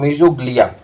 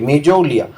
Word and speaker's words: mesoglea: लेकिन जब इंग्लिश में इसको लिखते हैं तो इंग्लिश में ऐसे लिखा रहता है MESOGLEA, मीजोलिया। यहाँ पे इंग्लिश के उच्चारण के हिसाब से मीजोलिया पढ़ा जाता है, जी को साइलेंट कर देते हैं, लेकिन हिंदी के उच्चारण के हिसाब से मीजोग्लिया पढ़ते हैं।